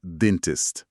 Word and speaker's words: dentist: Tipo, esse T mudo no final de dentist, ele é importante.